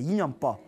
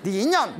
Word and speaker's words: 인연법: 쉽게 말하면 인연 법이에요 인연법 인연법 발음 잘해야 돼요네 인년 뭐 이게 아니라 모든게 원인과 결과로 이루어진